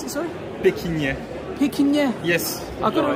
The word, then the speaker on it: Pequignet: How do you pronounce it, sorry? Pequignet.